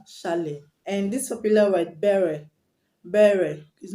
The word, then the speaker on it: beret: The beret that you wear on your head is not beret or beret, is beret because the T is silent.